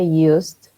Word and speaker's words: used: Nunca pronunciamos tampoco la E en este verbo, ¿ok? Used.